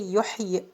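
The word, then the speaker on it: يحيي: The same for yuhyi. We say yuhyi while stopping.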